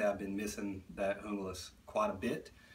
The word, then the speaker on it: Junglas: That's more the correct pronunciation than the Junglas that I said earlier in the video, that it is Junglas, named after the anti-narcotic special forces of the Colombian police.